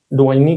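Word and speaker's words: 抖音: ये जो डाइनो है, डाइनी है, डुआइनी कह सकते हैं, क्या प्रोनाउंसिएशन होगा इसका, डुआइन, ठीक है।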